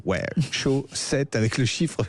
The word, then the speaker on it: Show 7: Alors euh, c'est la chaussette Ultimate, mais chaussettes, ça s'écrit S H Ow, c'est le show. Ouais. Show 7 avec le chiffre 7.